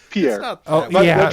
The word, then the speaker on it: Pierre: goes she says it's named after a French guy named Pierre. And I'm like right. And it's pronounced pier.